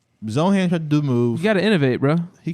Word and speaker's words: Zohan: Holy Yeah, that's that's Zoron. Manny, why you got to say it right now? It's Zohan.